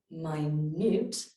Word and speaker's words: minute: reading out the words we have a homophone so minute pronounced minute is a length of time i.e 60 seconds however my newt which is also spelt the same way means very small hopefully you have enough